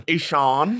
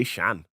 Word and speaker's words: Eshaan: Eshaan. Eshaan, yeah. Eshaan. Yeah. Our agent Yeah. doesn't pronounce my name properly.